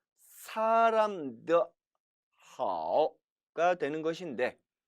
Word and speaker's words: 好: 好 이처럼 사성어로도 발음된다는 사실입니다. 好 삼성어로 발음될 땐 좋다, 안녕하다, 건강하다라는 뜻이었는데 이제 사성어로 발음될 때는 동사가 된다라는 점 주의하시기 바랍니다.